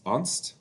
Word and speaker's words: Ernst: prior German Junior diplomat it's spelled Ernst it's unst uh Von Roth no